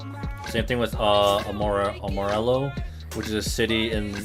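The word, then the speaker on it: Amarillo: Same thing with uh Amorello, which is a city in in the in the panhandle. It's not like the Spanish word. Uh you do pronounce the the L's.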